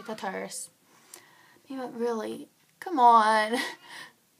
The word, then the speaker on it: Tartarus: fell off the cliff into the Terrace that's how I pronounce it some people say Tartarus I say tutors yeah but really come